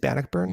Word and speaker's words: Bannockburn: Is it Bannockburn?